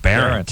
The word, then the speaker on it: Behrendt: No, Behrendt. Yeah. Behrendt. See? Behrendt. See, I'm just going to cross out how it's spelled. I know. I should have changed it, man. B-A-R-E-N-T. Yeah, that's what I'm going to do. B-A-R-E-N-T.